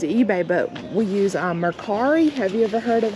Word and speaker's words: Mercari: uses doesn't use ebay but we use um mercari have you ever heard of mercari i have